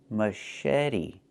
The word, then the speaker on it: machete: Pronunciation, machete, machete. The CH makes a soft sh sound, like in fish, mush. And then eddy. The T makes a fast D, machete.